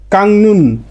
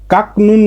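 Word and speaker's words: 깎는: তাহলে কাকনুন না হয়ে উচ্চারণটা হবে কাংনুন, কাংনুন। কাকনুন না হয়ে উচ্চারণটা হবে কাংনুন।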